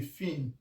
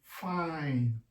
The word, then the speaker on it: fine: Now, if you want to pronounce this, it's not going to be fin. Okay? And it's not going to be fini or fine. No. It's now going to be fine. Fine.